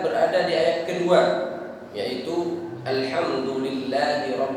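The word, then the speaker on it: الحمد لله: ayat kedua yaitu Alhamdulillah cara membacanya di sini mesti hati-hati alhamdulillah di sini menggunakan huruf H Alhamdulillah jadi suaranya agak bersih alhamdulillahirobbilalamin Alhamdulillah Jangan dibaca dengan H kalau dibaca dengan hak Alhamdulillah orang kalau tidak perhatian terkadang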